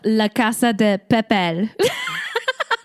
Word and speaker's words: La Casa de Papel: It's called La Casa de Papel.